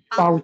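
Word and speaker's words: Pause: পে ফর হাউস পাউজ pouch না, লাস্টে এ আছে না, পাউজে পাউজে।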